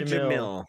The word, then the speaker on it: Jamil: So is it Jamil? How do you pronounce? Is it Jamil? Jamil? Is that how you pronounce her name? Jamila Jamil.